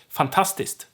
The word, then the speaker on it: fantastiskt: K is silent here and turns to st. So fantastic in Swedish is fantastiskt. Fantastiskt. Not fantastiskt. That's not what we usually say.